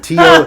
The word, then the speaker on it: Talkin: But they pronounced it Token, Tokken.